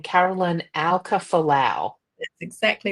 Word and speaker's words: Aukafolau: But it's you were saying Carolyn Alkafulau.